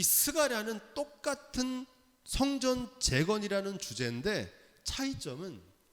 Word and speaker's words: 스가랴: 스가랴 흔한 이름입니다. 구약 성경에 무려 30명의 동명이인이 나옵니다. 같은 이름을 가진 사람이 많아요. 사가랴라고 읽기도 합니다. 스가랴, 사가랴 같은 뜻입니다.